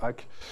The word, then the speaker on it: HAC: ce club historique mythique le HAC le hack si vous préférez le prononcer comme ça j'imagine que c'était votre